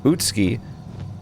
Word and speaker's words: Utsuki: So apparently in Japanese names um with ones like uh sassuk pronounced sasuke or yuk pronounced Yusuke or Utsuki pronounced Utski. If it's tsu or su, then you uh swallow the u. You don't pronounce it.